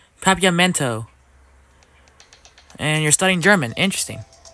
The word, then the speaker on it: Papiamento: You're studying Papianto? Interesting. Papiamento. Oops, I said it wrong. Papiamento.